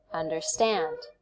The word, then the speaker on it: understand: syllable right and then how about this one understand understand we put the stress on the last syllable understand understand how many